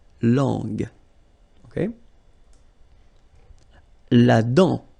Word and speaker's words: dent: La dent. Final T not pronounced. La dent.